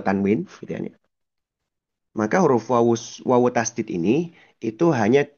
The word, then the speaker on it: wau: itu adalah bagaimana huruf wau diucapkan. Huruf wau itu pengucapannya dengan bibir. Menyempitkan buah bibir. Memang tidak menutup, tapi menyempitkan dua bibir. Hanya menyempikan saja, tidak sampai menutup.